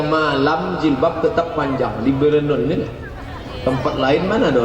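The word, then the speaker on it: Bireuen: Payah membacanya. Biranen. Bernun.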